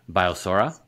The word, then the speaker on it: Biosorra: Let's pivot a little bit and talk about, and I'm not sure if I'm pronouncing this correctly, but Biosorra. Yeah, that's it. That's the correct pronunciation.